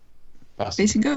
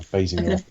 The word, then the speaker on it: Basinger: I always tend to say Basinger because that's how it sort of entered pop culture, but I think it is pronounced Basinger. That's how they pronounce it on The Simpsons.